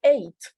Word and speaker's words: eight: en este caso esta amiga suena así sería eight sí sumamente diferente no sé si lo notaron